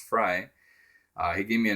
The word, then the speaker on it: Frey: fry not frey uh it's spelled f-r-e-y but it's pronounced fry uh he gave me